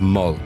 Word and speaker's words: Mull: Don't mispronounce Mull. Mull. How can you mispronounce Mull?